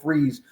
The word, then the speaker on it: Fries: I don't know if it's Freeze or Fries. I believe it's pronounced Will Freeze from Indianapolis.